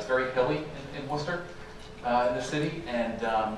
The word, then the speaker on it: Worcester: It's in a place called Worcester, Mass. Not spelled that way, but that's how it's pronounced.